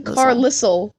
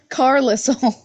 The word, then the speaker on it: Carlisle: I read the books I don't even want to know how I would have pronounced Carlisle I saw someone they're like I called him carlissel Carlisle Alice Fortescue so we